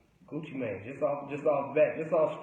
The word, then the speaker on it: Gucci Mane: You know, one thing I like about what he said Gucci Mane. He said Gucci right. He said Gucci Mane. Nah, Gucci man.